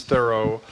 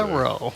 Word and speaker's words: Thoreau: Would you not agree, even if the proper pronunciation is Thoreau, what an affectation it sounds like to say that?